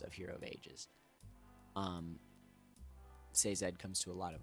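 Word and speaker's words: Sazed: really really cool um and then seed which I was saying his name wrong the entire time I always thought it was SE um but it's seed I believe um oh my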